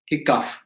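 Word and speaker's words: hiccough: we go enough and h i c c o u g h is also kickoff so at the end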